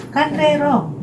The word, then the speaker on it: Kanrerong: Jadi cara bacanya Kandrerong, ya.